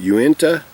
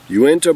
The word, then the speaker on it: Uinta: pronounce this it's uinta i pronounce it uenta uenta brewing company um they are